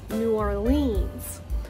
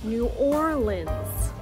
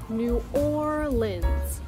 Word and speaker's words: New Orleans: Now, if you are an outsider, a visitor, you might pronounce it as New Orleans. But if you want to say it like a local, you want to say it as New Orleans, New Orleans, or New Orleans, New Orleans.